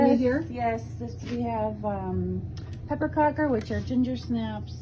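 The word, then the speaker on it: pepparkakor: We have pepperkakor, which are ginger snaps. That's how you say it in Swedish, pepperkakor.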